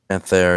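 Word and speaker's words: Panthère: Panther, yeah.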